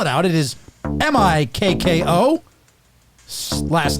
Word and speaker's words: Mikko: will get the names but to spell to spell it out it is m-i-k-k-o last name r-a-n-t-a-n-e-n are we gonna make monsal